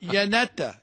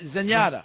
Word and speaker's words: Zenyatta: Yanetta. I made my pronunciation. Zenyatta.